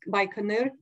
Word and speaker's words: Baikonur: and the north uh South Abyss cosmodrome uh baikonur and City by Canal uh called Inc kazakhstani way pronounced by canur uh as a at the very center so